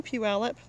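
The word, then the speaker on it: Puyallup: I know Puallup. You can tell because I know how to say it. Mom stber. Some people say puallup or for puget sound they say uh puget. There's lots of wrong pronunciations.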